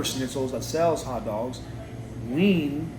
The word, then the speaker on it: Wien: There's a place called Wiener Schnitzels that sells hot dogs. Wien, W-E-I-N, is how you say Vienna.